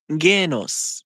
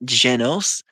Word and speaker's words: Genos: In Japanese, and I'm not kidding, that would be pronounced Genos, not Genos.